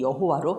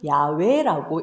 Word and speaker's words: 야훼: 그런데 나중에 이제 마소라 학파의 이 모음 체계가 정리가 되고 거기에 문법에 맞춰서 읽어보니까 여호와라는 발음이 틀렸다는 거죠. 이것을 이제 문법에 더 정확하게 읽으면은 이 단어는 야훼라고 읽어야 합니다.